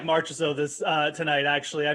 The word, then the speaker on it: Marchessault: you save some money like maybe teammate jonathan marciaso marches oh yeah you did really good there